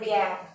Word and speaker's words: gangue: We called it एज, यहाँ पे एक वर्ड लिखा गैंग्यू नहीं होता, वो गैंग, इसको लिखा गैंग्यू है पर प्रोनाउंसिएशन इसकी है गैंग।